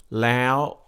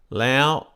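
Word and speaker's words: แล้ว: at the back I'm I'm saying it high in the back of my mouth almost into my nose and that's a high tone lay out my normal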